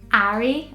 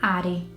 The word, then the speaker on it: Harry: and all of that, but I think the natural way of saying it in Portuguese would be Harry or Ari or Ahi. It would be very difficult. It is a very difficult name to pronounce in Portuguese. If I didn't know any English and I read that name, I'd probably say Ari or Harry, which is different to Harry.